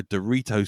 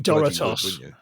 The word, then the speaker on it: Doritos: I think you mean Doritos. Sorry, what was that? I think it's pronounced Doritos. Doritos. Wow, I'm not that pretentious, Jim. Steady on. I know where the O goes. Doritos. It's Mexican or Spanish.